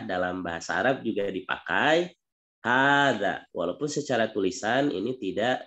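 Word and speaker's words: هٰذَا: Di sini kita selain idofah, gitu ya, kita juga sudah disampaikan terkait hadza. Hadza ini walaupun ha-nya itu tulisannya itu tidak panjang, tapi dibacanya panjang gitu ya.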